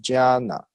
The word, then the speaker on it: jnana: So jna, okay, if conjugated with the additional na, J-N-A-N-A is pronounced jnana, which means knowledge.